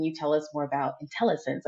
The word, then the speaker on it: Intellisense: tell us more about intelligence I hope I pronounced that right intelligence technology you did indeed it is intellisense and I'd be glad